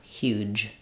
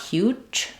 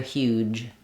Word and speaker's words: huge: Huge. Huge. Um watch that you make sure that that sound is voiced. You don't want huge but rather huge.